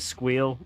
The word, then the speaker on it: SQL: way you're wrong however if you want to say it squeal that's okay I guess uh squirrel is not